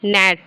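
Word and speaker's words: gnat: च लेटर इ silent in the word ji नेट तो हम जी को साइलेंट कर देते हैं पढ़ते क्या है इसको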